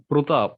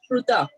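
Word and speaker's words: Pṛthā: Okay, wherever there is a dot, we have to pronounce it as Pruta.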